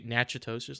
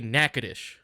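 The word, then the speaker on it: Natchitoches: it's actually pronounced different like uh it's it's phonetically said like nachos there's a city nachoes like n a t c h i but we say nackadish that is not like that's that [ __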